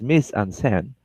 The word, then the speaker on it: mise-en-scène: capture it inside the frame all right so miss onsen now pronounce miss ansen as defined earlier know is staging and now